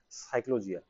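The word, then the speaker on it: Psychologia: हिंदी में लिख रहा हूं मैं ताकि ध्यान में रहे कि इसका प्रोनाउंसिएशन अपने को कैसे करना है। साइकोलॉजिया।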